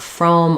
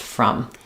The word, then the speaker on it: from: anything around it there it's not from or from it's just from and again um from you to me from Monday to Thursday from 1 to 2 from it's going to be very short almost no vowel very red red there